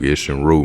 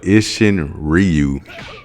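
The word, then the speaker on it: Isshin-ryū: Uh, it's spelled Ishin, it's spelled Ishin Ryu, but we were told by our instructor, we just called it Ishin Ru.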